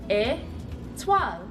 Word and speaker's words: étoile: Étoile.